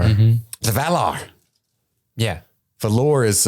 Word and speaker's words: Valar: It's the emphasis on the wrong syllable.